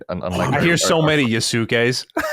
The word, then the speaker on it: Yasuke: Unlike I hear so many Yasukes. Yeah, well, Yasuke is fine, but it's really bad when Colin goes Yasuki.